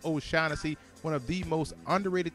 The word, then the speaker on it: O'Shaughnessy: they talk about chag it's okay to say his name James o shanesy one of the most